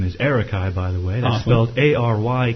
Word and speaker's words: Arykai: there you go my youtube channel name is Eric I by the way well ary k AI oh that's how to pronounce it that's how okay cool yeah and